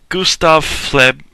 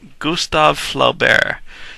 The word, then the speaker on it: Gustave Flaubert: his body and finally Gustav fled I'm never gonna print I never pronounced this guy's name right Gustave Flaubert that's right temp close enough anyway temptation of st.